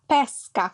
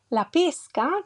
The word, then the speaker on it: pesca: Some examples are: pesca with an open E refers to the fruit, pesca with a closed E refers to the action, the activity of fishing with the fish, the animal.